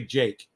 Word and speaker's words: Jikh: His name is spelled Jikh, Jake. Andre Jake, and it's Andrei, Andre, space Jikh. All right, that's how you spell his name. It's pronounced Andre Jake.